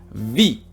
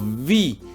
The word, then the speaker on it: wie: El was, aquí hay que alargar también wie. La W también se alarga, ¿vale? En todas las preguntas que empiecen por W, siempre hay que alargar la W un poquito. Vi.